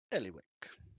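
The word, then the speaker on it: Ellywick: e l l y w i c k Ellie Wick uh the other blacksmithy is run by a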